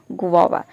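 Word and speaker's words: guava: अब देखिए यहाँ पे गौवा इसको प्रोनाउंस नहीं, इसको प्रोनाउंस करते हैं गुआवा।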